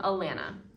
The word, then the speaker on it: Alana: This is from Alana. It rhymes with banana.